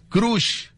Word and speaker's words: crush: Crush. Es con U, Rucho. Crush. Así es. Es como así, cruz, pero es crush.